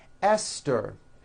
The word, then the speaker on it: Esther: like to point out although these next words and names are spelled with a th they are pronounced as if they were spelled with a normal t t like that and